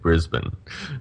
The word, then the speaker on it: Brisbane: city um it's BR it's a bit of a misleading especially because of the a but people here say it Brisbane bris I think every American come here and they say Brisbane and we always laugh